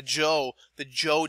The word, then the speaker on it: Zhou: And now when you see this ZH, anytime when you're looking at the pronunciation of Chinese words that have been alphabetized, this is going to have a J sound.